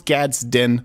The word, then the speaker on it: Gadsden: But I'll sometimes say Gadsden, sometimes I'll say Gadsden, but I know it's Gadsden flag.